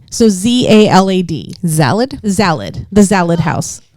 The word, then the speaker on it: Zalad: It's like salad with the Z. So ZALAD. Zalad?